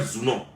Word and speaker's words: Zounon: Son père s'appelle Zounon, elle s'appelle Eunice Zounon. Pourquoi vous ne pouvez pas prendre la peine de prononcer leur nom comme il se doit et